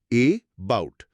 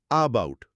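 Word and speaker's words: about: এর ফোনেটিক্স হল এ বাউট। আমরা কি বলি এ বাউট? না, আমরা বলি আবাউট। ওই যে শুরুতে একটা খুব দ্রুত হালকা আয়ের মতো ধ্বনি হলো, ওটাই শোয়া।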